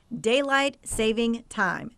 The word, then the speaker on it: Daylight Saving Time: This is the right way to say it. A whole lot of people want to add an S to the savings, but there is no S in Daylight Saving Time.